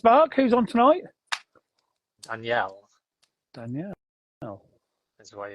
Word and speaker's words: Daniel: about our guest Mark who's on tonight Danielle Danielle is the way it's pronounced apparently I asked him because I was